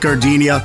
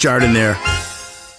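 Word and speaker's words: giardiniera: Hey guys, when you're at the counter, don't call it gardenia. It's pronounced Jardiniere.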